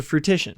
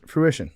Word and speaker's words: fruition: shared a moment well how do you pronounce that word comes to fruitition fruition oh my God oh my God fruition there's no tea in the middle well there's not two